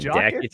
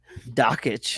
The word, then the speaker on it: Dakich: Dan Dakich sounds like Jack. Or me. Oh, no, that's how you say his name. Dakich. Oh, Dakich, like Jokic.